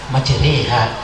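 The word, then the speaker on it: مَجْرٰىهَا: Maka Imam Hafiz bacanya dibaca imalah majriha, sementara tidak dibaca wa mursiha wa mursaha.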